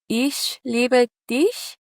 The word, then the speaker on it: Ich liebe dich: Um it was Ich liebe dich."